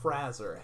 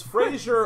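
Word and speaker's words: Frasier: not Freight it's not Frazee it's Fraser or Fraser it is not raising it's not Frazee raise our modern Fraser because there's no I like in the show Fraser no I've always heard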